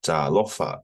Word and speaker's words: talofa: So you can see here, I don't have the macrons, but I've just, so you got to drag it, Lofa. Repeat after me. Talofa.